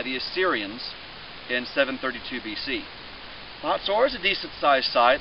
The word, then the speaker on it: Hazor: we're at the Israelite city of hotor or as it's pronounced in some English Bibles hazor but hotor was a